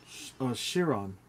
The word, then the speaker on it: Chiron: Simon, how do you say that? The other Bugatti? I don't know. Syrian or Chiron? Chiron. Chiron, yeah.